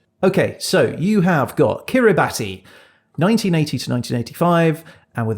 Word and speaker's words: Kiribati: it is not called kiribati oh so this country is spelled kiribati but in the local language ti is pronounced s so in fact it's called kiribati kiribati we were completely wrong